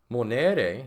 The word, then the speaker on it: monere: Monere, you have a long, now be mindful of my pronunciation here. A, that is in English E, right?